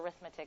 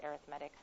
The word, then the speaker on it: arithmetic: arithmetic sequences okay it looks like the word arithmetic but it's pronounced arithmetic I know kind of weird okay what makes